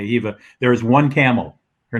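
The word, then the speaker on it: Khiva: the town of Hiva spelled khi you don't pronounce the K Eva there's one camel her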